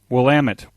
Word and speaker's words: Willamette: Willamette Valley Jack's blood yes Willamette this is how we pronounce it in the West Willamette Valley DX Club